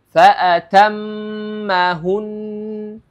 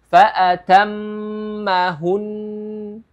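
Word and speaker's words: فَأَتَمَّهُنَّ: tetapi ketika mim dan Nun yang bertasdid maka di situ harus ada gunahnya karena huruf mim dan huruf nun adalah huruf yang ghunah ya dan ghunah seperti tadi ya panjangnya dua harakat jadi cara membacanya adalah faatammahun faatammahun ya Jadi dua harakat ya jadi bikalimatin faatammahun ya Jadi dipanjangkan dua harakat dengan gunah tib kita lanjut ke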